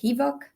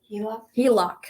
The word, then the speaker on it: HELOC: You can also do the, what is it, HEVOC? Is that how you say it? HELOC.